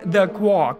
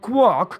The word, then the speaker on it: quark: makes more literal sense but then it wouldn't rhyme with Mark bark and mark again but anyway the word quark comes from a slavic